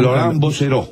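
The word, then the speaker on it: Laurent Bouzereau: de Laurent Bosseró, como se, no sé, se pronuncia porque no. Laurent Bosseró.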